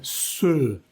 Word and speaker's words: se: La quiche, Lorraine, se, con la boca cerrada, se. Si no tienen la E con un acento, muy seguramente no se va a pronunciar esa E como en español.